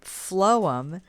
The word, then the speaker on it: phloem: xylem transports water and phloem you can think of it phonetically phloem food all right and then